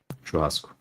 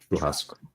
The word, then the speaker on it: Churrasco: Churrasco. You don't say the O that much. I guess not. Churrasco.